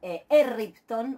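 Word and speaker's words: ἔρριπτον: tienen el verbo ripto, para que después, cuando uno lo pronuncie al pretérito imperfecto, pueda pronunciar erripton, o sea, manteniendo la vibrante múltiple, esa ro así fuerte, como la tenemos en ripto, se duplica, cuando se añade el aumento, se duplica la ro.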